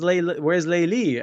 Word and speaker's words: Layli: Do they pronounce it as Layli in Farsi? in Persian we say Layli, yeah.